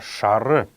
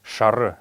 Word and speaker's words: шара: покровитель женщин и детей следующее слово это слово шары именно так оно произносится какие слова hours как шары это желтый однако в потоке речи часто можно услышать как говорят просто шар но норма его конечно это шара это желтый лан лан